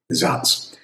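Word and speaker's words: Saaz: a a z and in German that spells z because the s makes an z sound and the z makes a ts sound. zots.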